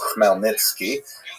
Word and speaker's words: Khmelnytsky: It's actually pronounced Khmelnytsky with a guttural at the beginning.